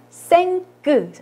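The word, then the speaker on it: cinq: 5는 생끄, 이하고 n이 만나서 앵으로 발음이 되고요. 요거는 특이하게 끝에 자음이 발음이 됩니다. 그래서 생끄라고 발음을 해요.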